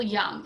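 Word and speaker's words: Jung: Young it looks car the J is pronounced y so it's Carl Young and you might learn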